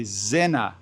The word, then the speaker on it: Sinner: And by the way, that's how you say Sinner in German. You say Zinner. So this leads me to believe that you actually say Yannick Sinner and not Sinner.